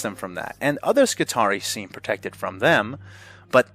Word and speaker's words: Skitarii: I was really worried about that, whether I pronounced, that organization correctly. Skitarii, yes.